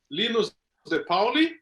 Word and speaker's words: Linus De Paoli: So I'm Linus de Paoli. Actually, that's the right way to say my name, but Linus is okay, don't worry.